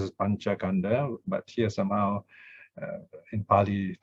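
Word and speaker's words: pañcakkhandha: And then now here the K is added in to make it have a good sound, panchakanda. Of course, you can pronounce it as panchakanda, but here somehow in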